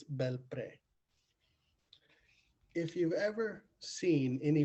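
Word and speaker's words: Belpré: Now, the name is kind of funny and it's hard for me to pronounce, but I believe it's Belpre.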